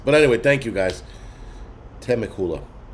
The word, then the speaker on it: Temecula: Temecula. Okay, thank you. I am so bad with fucking pronunciations. But anyway, thank you guys. Temecula. Temecula.